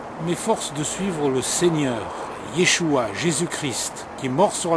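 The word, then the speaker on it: ישוע: on n' pas l'habitude de dire Yeshua mais Yeshua c'est le nom de Jésus en hébreu et c'est comme ça qu'on le prononce Jésus-Christ c'est une traduction ce qui a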